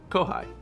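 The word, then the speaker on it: kōhai: mr incredible newblord uh kohai pronounced kohai basically means underclassmen so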